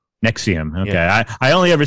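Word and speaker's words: NXIVM: whatever it's called correct it's uh actually it's pronounced nexium nexium okay i i only ever see it written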